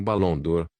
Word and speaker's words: Baron Dour: Senhor por favor sente-se meu nome é Baron dour pronuncia-se como balon dor e este é meu